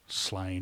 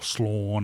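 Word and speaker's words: Sláine: But really, his masterwork for 2000 AD was Slain or Slawn, I believe it's supposed to be pronounced.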